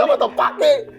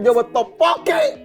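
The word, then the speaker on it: Jobu Tupaki: Evelynnya sendiri, Jobo Topaki, bukan Jobo Topoki.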